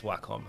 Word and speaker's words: Wacom: one day i i heard them actually say wacom and i was like oh wait is that how you pronounce it like yeah it's wacom and i'm like you know